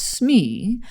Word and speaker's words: SME: designer will get assigned a subject matter expert pronounce smee who allows you to mine their expertise in